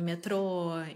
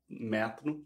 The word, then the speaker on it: metrô: coisa antes no episódio você falou metrô que é como se fala no Brasil é agora você falou metro não falei metrô de novo tá bom desculpa mas aqui em Portugal eles falam Neto e no Brasil é metrô e eu não vou